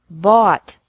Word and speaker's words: bought: Buy, bought, bought. Catch, caught, caught. Fight, fought, fought. Seek, sought, sought. Teach, taught, taught. Think, thought, thought. Remember that the G is silent in these verbs.